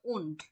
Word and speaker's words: und: এসেন, double S এর মতো উচ্চারণ করবো। এসেন ইয়ানা এন্ড এন্ড ভাইয়া, উন্ড এখানে ও আচ্ছা হ্যাঁ উন্ড উন্ড ইউলি ইউলিয়া আছে লাস্টে, ইউলিয়া ইউলিয়া ইউলিয়া ইয়োহান ইয়োহানিস বেরেন হ্যাঁ বের বেরেন।